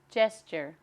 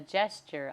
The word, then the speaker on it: gesture: The first one, Gesture, noun. 姿势手势 He raised his hands in a gesture of despair. 他举起双手表示绝望。同学们注意一下这个字念 gesture，我听到很多中国人会念成 gesture，所以稍微注意一下它的发音。The next one, Unify, verb.